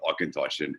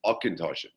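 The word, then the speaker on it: Auchentoshan: that it is pronounced akintoshi um akintoshi and all you really need to do is uh think about switching that ch to a ck and that'll give you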